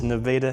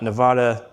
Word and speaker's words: Nevada: Again, it's Nevada, not Nevada, not Nevada, Nevada. I grew up here. That's how you say it.